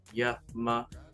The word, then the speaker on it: Yama: It says the A is like a U. Okay? So Yama.